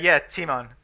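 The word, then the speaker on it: Tymon: It's like when you see Felix, and is it pronounced Timon? Yeah, Timon.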